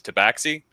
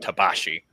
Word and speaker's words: Tabaxi: So the official linguistic thing of Wizards of the Coast is Tabaxi. And I've been pronouncing it Tabashi because that's how it would be pronounced in that context.